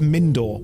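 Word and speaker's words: Mindoir: do it on purpose it's pronounced mindor we'll go with mindor and they're just all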